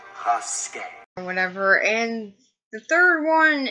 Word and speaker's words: Rasket: It's pronounced Rasket.